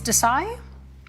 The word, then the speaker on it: Desai: Miss Desai? Is that Yes, how I Your pronounce Honor.